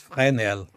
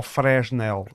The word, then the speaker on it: Fresnel: um nome que era, se tu souberes pronunciar em francês, o teu francês deve ser melhor que o meu. Pois eram as lentes de Fresnel. Eram lentes que... Ou Fresnel. Pois, Fresnel. Se ler assim portuguesadamente.